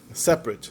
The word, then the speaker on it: separate: Separate, só tem 2 sílabas.